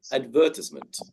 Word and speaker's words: advertisement: And I would say advertisement, advertisement, not advertisement. Yeah. So again, the stress is on the sound, ER, advertisement.